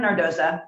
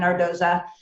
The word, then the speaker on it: Nardozza: italian roots and so i changed the pronunciation to its correct italian pronunciation i love it so